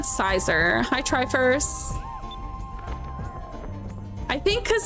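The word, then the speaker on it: Scizor: Pronounce it like scissor. Make the second half of like scissor. I've always said Sizor.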